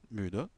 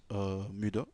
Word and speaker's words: müde: Donc, ich bin sehr müde, müde, müde, fatigué. Donc, on prononce toujours le E à la fin, hein, müde.